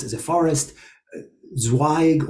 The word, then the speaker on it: Zweig: Zweig or Zweig, as it's originally pronounced, is a branch.